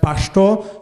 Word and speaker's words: Pashto: book said the main the main exception from that rule is the new name of the language which is pronounced Pashto so the last vowel is is under stress and there are multiple